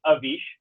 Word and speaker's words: Avish: It's not the most common name in the world, though it's pronounced Avish. And I get variations all the time on it.